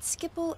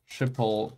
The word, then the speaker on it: Schiphol: I stayed at Schiphol Airport for the first night because we landed late and security personnel mistreated us and were racist towards us.